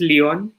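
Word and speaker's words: Lyon: Because पहले तो आई am sorry to correct you, इट्स लियोन.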